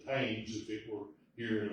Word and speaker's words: Thames: We're going to go up on the River Thames, which is we call it, we would pronounce it the Thames if it were here in America, T-H-A-M-E-S.